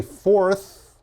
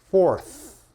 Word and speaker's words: fourth: second third fourth okay when I say fourth look at my tongue my tongue comes out fourth fifth sixth seventh eth